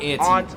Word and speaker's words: aunt: Americans say it both ways, but I've always said it aunt, like your aunt and uncle.